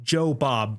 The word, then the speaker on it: Jobob: I think they pronounced my name wrong. It said and more. It It's Joe Bob.